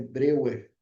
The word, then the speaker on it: Breuer: Ó, pessoal, escreve Breuer, tá? Mas a gente normalmente pronuncia Breuer, ok?